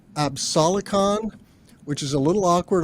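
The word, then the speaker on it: Absolicon: a Tracker technology from Sweden a company called absalocon which is a little awkward I'm going to spell that it's a b s o l i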